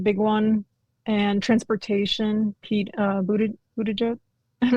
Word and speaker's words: Buttigieg: Pete Buttigieg. I'm not sure if I'm saying his name right. That sounds right. Buttigieg.